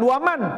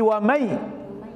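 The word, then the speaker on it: وَمَن: memasukkan dan mendengungkan mendengungkan cara bacanya bukan waman tapi wamai ah inilah kalian kalau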